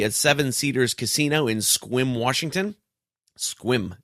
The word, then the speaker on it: Sequim: Wednesday, October the 12th, I'll be at Seven Cedars Casino in Sequim, Washington. Sequim. It's not even spelled like that.